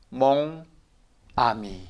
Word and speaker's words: 모나미: 그러면 같이 읽어봐요 그렇죠 멍아미 몽아미 이렇게 읽죠 이게 정확한 발음이에요 그런데 여러분들 혹시 그 만년필이나 불편사로 들어갈 때 저 몽아미 주세요 그렇게 말씀한 적이 있어요 없죠 어떻게 말씀하세요 그렇죠 모나미라고 그러죠 그렇죠 몽암이라고 써